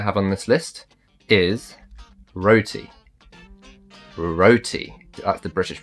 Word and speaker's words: roti: We roll the R's, the roti.